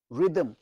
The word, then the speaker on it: rhythm: R H Y T H M, rhythm, rhythm। বাংলাটা কি হবে? রয় রস্বই দ ম, রিদম, রিদম, রিদম। আমি এদেশে আমেরিকাতে ভারতীয়দের কিছু লোকের কাছ থেকে রোদমও শুনেছি, রোদম। ভয়ঙ্কর ইংরেজি উচ্চারণ, চেঞ্জ করে না, শেখে না।